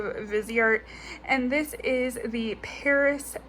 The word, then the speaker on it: Viseart: ahead and i ordered the visi art or viseart depending on how you pronounce it but it is i believe viseart and this is the